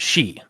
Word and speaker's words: Sidhe: Now, in the spelling, it's Sidhe, but you pronounce it she.